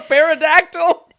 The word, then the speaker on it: pterodactyl: The parodactyl goes flap flap flap. What a It's not a pterodactyl. Pterodactyl. Did the P is silent?